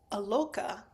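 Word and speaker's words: aloka: Now I want to note that the word aloca with a short a not with the line over the top that word does not actually appear anywhere in the polycanon.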